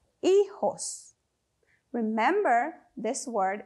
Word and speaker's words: hijos: and an S but in Spanish we do not pronounce the h and for the J it actually has an H sound in English so that's why we